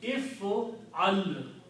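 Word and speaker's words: افعل: In Arabic, command is made by adding an alif in the beginning with the kasra and hamza and pronouncing if al.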